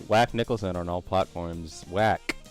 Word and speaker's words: Whack: Whack. With a silent H.